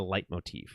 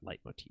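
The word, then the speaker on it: leitmotif: talking about it as they're calling it a light Motif which is much more of a musical term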